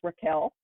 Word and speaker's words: Rachel: um Rachel wild um her name she would tell you is pronounced Raquel but even in my head I call her Rachel because that's what it looks like on paper but um she is